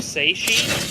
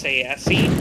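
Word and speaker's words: Tsaesci: No, there's literally like 4 or 5 different pronunciations in like official sources. There's Seishi, there's Sayesi, there's Seichi, there's Zichi.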